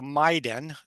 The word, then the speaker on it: MAIDEN: which was nice so we call arcave the maiden which we pronounce it Maiden Michigan immersive digital experience